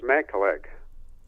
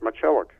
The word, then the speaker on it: Macielag: and i said well they pronounced it in a polish way matilda up up to that point in time outside of the polish community my name was matt collect oh really that i